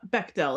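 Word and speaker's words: Bechdel: The Bchdell test. Uh, Beckell, it's pronounced like a hard. Okay. Okay. Bectell test.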